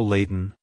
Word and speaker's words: Layton: to pronounce it correctly emphasize the lay sound followed by a soft t and on sound at the end like hello Leighton goodbye Leighton if you